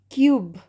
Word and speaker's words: cube: तो यहाँ पे E का sound हम लोग E जब हम लोग ये word pronounce कर रहे तो E तो silent है, ठीक है. E का कोई pronunciation नहीं आ रहा है, लेकिन E लगने के वजह से क्या हो गया ये short U sound word क्या चीज़ में change हो गया long U sound words में.